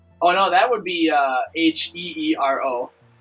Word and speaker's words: Heero: Oh no, that would be H-E-E-R-O, right? Is it really? Yeah. That's really weird, because in Japanese that would say Heero. Yeah, and I think that's how you're supposed to pronounce it.